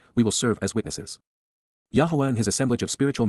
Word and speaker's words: Yahweh: humanity indeed because KY Yahweh Yahweh the proper pronunciation of the name of eloah God as directed in his